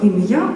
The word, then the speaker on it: ім'я: От, наприклад, в усіх богослужбових книжках українських слово ім'я подається з наголосом на останню голосну, так як ми чи вимовляємо це слово зараз ім'я. І виявляється, як дослідив відомий науковець, академік Віталій Григорович Стляренко, це є праслав'янський наголос. А традиція наголошувати на першому складі ім'я з'явилася вже пізніше.